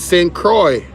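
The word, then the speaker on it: St. Croix: Oh, it's it's St. Croy.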